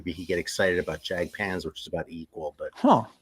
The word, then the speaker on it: Jagdpanzer: these rules of grammar of the European languages, it should be Jagdpanzer, but I have a feeling the band says